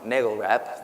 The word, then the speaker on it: NAGLREP: speaking to the the I'm gonna say it wrong Nagel rap there we go we had a debate